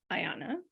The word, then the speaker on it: Aiana: you own a restaurant a beautiful restaurant named Ayanna am I pronouncing that correctly that's just how I've been